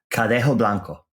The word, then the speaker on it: Cadejo Blanco: how should how should someone say it correctly cadejo Blanco totally I've heard it butchered all over and uh that's why they